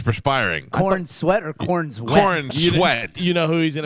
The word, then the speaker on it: Cornsweet: Corn sweat.